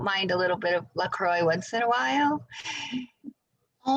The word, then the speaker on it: LaCroix: yeah so that is lacroix or i don't know how to really say it but it's um i think it's french and it's spelled l-a-c-r-o-i-x